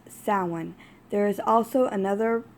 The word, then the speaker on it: Samhain: here is the sewing Subodh section some people pronounce it Samhain but that is incorrect if you do your research and look it up it is plainly pronounced someone there is also another pronunciation for it does